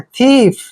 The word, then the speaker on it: thief: Next word देखिए THIEF, TH का उच्चारण हम थे करते हैं, IE को ई की मात्रा पढ़ते हैं, एफ को फे पढ़ते हैं। थीफ, थीफ क्या होता है, चोर,